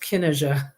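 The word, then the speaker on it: Cinnéide: n NE i d and it's spel it's pronounced Kena Kena okay now they were a king of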